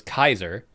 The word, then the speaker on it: Caesar: So this is how classic classical Roman spoke. Caesar was Kaiser.